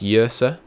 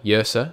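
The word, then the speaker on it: Yrsa: Name is pronounced Yersa. Fair enough. I don't like any of these horseborn guys. Oh, there's a balloon drifting up past my window. I just really like the big guys. Maybe we should take her at least. She seems pretty useful. Rhymes with cursor.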